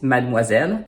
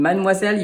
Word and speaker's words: mademoiselle: In Mademoiselle, you have the digram OI, which is the spelling for wa, which we learned a moment ago in bonsoir.